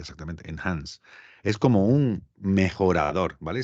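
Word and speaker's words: Enhance: esto Adobe en anses este no somos se pronuncia exactamente en Hans es como un mejorador vale si grabáis grabáis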